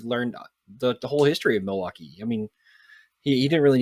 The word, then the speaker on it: Milwaukee: that route actually bradley it's pronounced miley waukee which is algonquin for the good land yes thank you thank